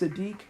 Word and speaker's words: Siddiq: was spelled over some acidic but it's actually pronounced Sadiq I'm gonna have a couple people on lines